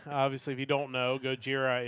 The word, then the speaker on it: Gojira: Obviously, if you don't know, Gojira is the the Japanese pronunciation for Godzilla.